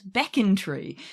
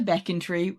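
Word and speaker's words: Becontree: twitter last week who told us how to pronounce beckon tree so now when we get to beckon tree i will be saying that correctly as will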